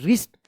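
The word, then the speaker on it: wrist: आर आई एस टी रिस्ट ध्यान रखिएगा आर से पहले अगर डब्ल्यू आता है तो डब्ल्यू जो है ना साइलेंट रहता है रिस्ट वॉच डब्ल्यू ए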